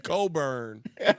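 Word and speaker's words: Cockburn: I will let you cook Kofi Coburn, whose name has an unexplicable CK in it that nobody wants to pronounce.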